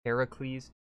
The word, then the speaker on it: Heracles: just saying heracles and hair the way it's pronounced heracles doesn't roll off the tongue as much as